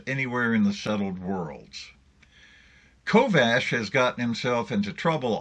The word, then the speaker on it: Kovacs: Kovacs, that's how it's spelled, but it's pronounced Kovash, is a former envoy,